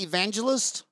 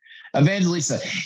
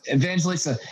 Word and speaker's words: Evangelista: Is you pronounce it Evangelist? Evangelista. Evangelista.